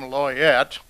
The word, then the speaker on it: Loyette: And we were a smash hit at the Denny's there, where a waitress named Loyette, who pronounced her name Loyette, thinks we're the biggest thing since the death of Elvis.